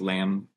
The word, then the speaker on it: lamb: consonant at the end, like in the word lamb. Like there's a B at the end, but you don't pronounce it. It's just lamb.